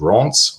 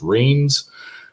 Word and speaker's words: Reims: known for its champagne called Reims, or as it's commonly pronounced, Reims.